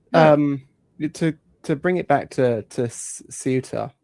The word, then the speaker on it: Ceuta: But to bring it back to Ceuta or Ceuta, if you want to go with the English pronunciation, I've been fucking driven